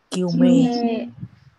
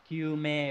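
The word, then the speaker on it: 究明: Từ đầu tiên đọc là Kyume. Kyume, đúng rồi.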